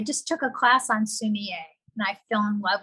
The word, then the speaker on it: sumi-e: Sumi-e.